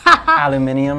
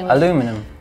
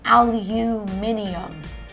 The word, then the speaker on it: aluminium: Aluminum. No, it's aluminium. Aluminium. You guys are adding a syllable.